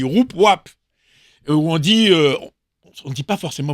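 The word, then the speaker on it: Woupwap: Comme Voupvap, ça s'écrit W-O-U-P, W-A-P. Alors, les gens sont toujours un peu gênés. Ah bah ouais, on dit Roup-Wap.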